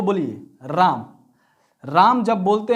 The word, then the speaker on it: राम: राम शब्द को बोलिए राम राम जब बोलते हैं तो लो लास्ट में जो एम है उसमें ऐसा साइलेंट हो जाता है रमन नहीं बोलते हैं राम बोलते हैं क्या बोलते